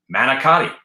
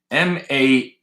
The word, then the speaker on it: manicotti: And they make fun of me because I say it like it's written, manicotti. No? For some reason, in Jersey and Staten Island, it's Managut. Managut.